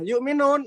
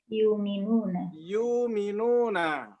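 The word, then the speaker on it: يؤمنون: Nah, yu'minun ini kalau dihilangkan jadinya apa? Yuminuna. Ini menghilangkan hamzah secara tulisan maupun bacaan.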